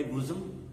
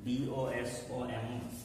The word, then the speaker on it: bosom: What snake have I been harboring in my bosom? B-O-S-O-M. Its pronunciation is bosom.